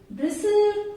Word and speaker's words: bristle: Words are given where T is silent. In words के pronunciation में T silent रहता है. So the words are like castle, depot, listen, often, fasten, bristle, kitchen, Christmas, rustle.